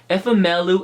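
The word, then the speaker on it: Ifemelu: wrote this down with phonetics to make sure pronounce it correctly which is FML loop and Oh beam say whoa okay that's correct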